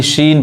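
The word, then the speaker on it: scene: देखिए यहां पे जो सी है वो एस के बाद आया है और ई के पहले आया है, इसलिए जो सी है वो क्या है, साइलेंट होगा, यानी शीन पढ़ाएगा।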